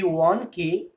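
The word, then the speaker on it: won: অনেকে দেখবে ওয়ানকে ওন উচ্চারণ করো, ওটা কিন্তু একদম ভুল উচ্চারণ।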